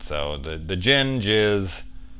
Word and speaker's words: djinn: And the D is silent. So the djinn jizz right up in her.